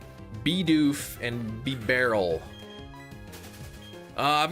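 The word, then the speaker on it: Bidoof: It's pronounced beof like a beaver. Beoff and be barrel.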